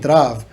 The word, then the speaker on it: Trav: album in the lyrics i'm saying trav so i don't know why they released it like that wow it's you know instead of just they pronounced it with a t-r-a-v-a so that's how my